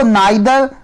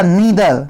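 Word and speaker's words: neither: इसको नाइदर या नीदर दोनों पढ़ते हैं। यू can pronounce as नीदर as well as नादर also. Okay.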